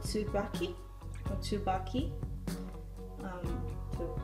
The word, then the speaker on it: Tsubaki: It's called Tsubaki, or Tsubaki, to pronounce it properly, by Shiseido, which is a really good Japanese cosmetics brand.